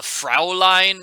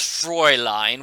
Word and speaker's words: Fräulein: You might have noticed Carl called Nancy a Fraulein multiple times in that conversation. It's actually pronounced Fräulein, which Carl would know if he was actually from Germany.